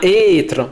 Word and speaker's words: être: Par exemple, on ne dit pas estre, on dit bien être.